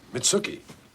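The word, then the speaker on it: Mitsouko: Mitsuki. Rhymes with nookie.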